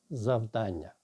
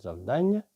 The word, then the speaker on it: завдання: Отже, слово завдання. Одні кажуть завдання, інші кажуть завдання. В словнику відмічається, що від наголосу залежить значення цього слова. Коли ми кажемо завдання, то маємо на увазі щось глобальне.